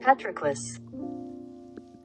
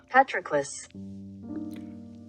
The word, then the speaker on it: Patroclus: Let's see how it's pronounced. Patroclus. Patroclus.